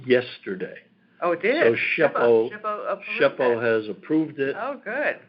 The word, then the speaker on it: SHPO: They pronounce it SHPO, State Historic Preservation Office.